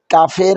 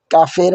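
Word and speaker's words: ق: এর মাখরাজ হলো জিহ্বার পিছনের অংশ উপরের নরম তালুর সাথে লাগবে। ওকে? জিহ্বার পিছনের অংশ উপরের নরম তালুর সাথে লাগবে। পড়ার সময় আওয়াজ একটু শক্ত ও মোটা হবে। এটি সাধারণ কফ কাফের মত পাতলা নয়। কাফের মত পাতলা নয়। এটি সাধারণ কাফের মত পাতলা নয়। মুখ একটু ভারি করে বলুন।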